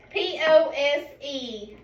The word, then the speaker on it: pose: Okay, so cross out the E. So just put an X on the E. And we're underneath from our E to our O, we're going to draw a line to show that E is reaching back to O to say its name.